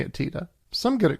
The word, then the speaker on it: Tiede: Now, it's interesting because I took a look at some footage, and Bernie himself pronounces his last name Tiede.